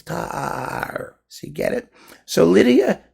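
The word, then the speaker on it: Tár: So her last name is not Tar, it's Tar. You have to accent the A, it's Tar.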